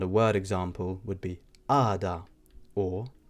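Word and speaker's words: għada: word, we can say ada, which means tomorrow. As you can tell there, I didn't pronounce the G or the H with the little cross going across it, so it just becomes ada, which means tomorrow.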